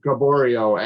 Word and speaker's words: Gaboriault: We have a great guest tonight, NHRA, PDRA top sportsman competitor, Division I's own Gaboriault. And if you're listening, Lisa, already, did you notice I pronounced it right?